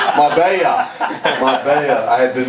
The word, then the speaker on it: Marbella: Marbella. I had been mispronouncing it at home. Marbella Film Festival.